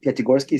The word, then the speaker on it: Pyatigorsky: Once you put into two separate words, Piati and Gorsky, Pyatigorsky, see the rolls of your tongue easily.